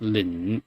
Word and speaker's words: 冷: But the way it's pronounced, the speaker pronounces it. I believe it was like 冷 with almost like a kit vowel in English, right?